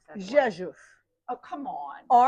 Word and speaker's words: Rzeszów: In 2021 to 22, she was a Fulbright Scholar at the University of, and you have to pronounce that. Rzeszów. Oh, come on. Rzeszów.